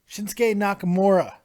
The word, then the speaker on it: Shinsuke Nakamura: takeover Dallas and what what a frakin moment shinsuke Nakamura there I said it right this week okay